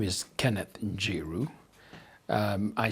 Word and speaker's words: Njiru: My name is Kenneth Njiru. I spell it as N-J-I-R-U, Njiru.